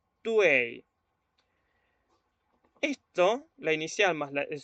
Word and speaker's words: tui: Entonces, esta letra no la vamos a pronunciar Tui, se va a pronunciar Tuei.